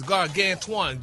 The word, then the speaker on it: gargantuan: No, it the the your pronunciation of the A is wrong. The last A, your emphasis is wrong on that.